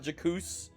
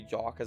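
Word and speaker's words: Jacques: I've realized it's now called I've realized it's pronounced not jacooz I still like saying jakku snow but yes that's supposed to be JA cuz it's a jack-in-the-box and gymnastics elf we also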